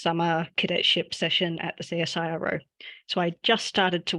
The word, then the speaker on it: CSIRO: was that there were so many silos at CSIRO, which is horrible because it rhymes.